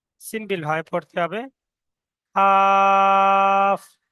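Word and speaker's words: كاف: Calf. Simple ভাবে পড়তে হবে। কাফ।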